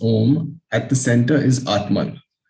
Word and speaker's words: Om: The mystic symbol Om, pronounced Om, at the center is Atman.